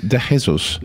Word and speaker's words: De Jesus: I do and then everybody said no it's deesos and I said okay